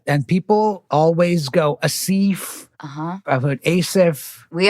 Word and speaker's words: Aasif: Tell me how to pronounce your name. It's Aasif. Aasif. Yeah. Aasif. So it is the softer like Anna. Yeah, that's right. And people always go Aasif.